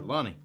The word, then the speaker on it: Lonnie: Do I have his first name wrong? Ron. Yeah, Lonnie. Lonnie. Lonnie. Yeah. Lonnie. I messed it up.